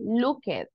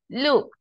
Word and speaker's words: looked: don't say help it we don't say look it wash it watch it or kiss it right so when you see this letters remember it sounds like a t helped looked and the final sound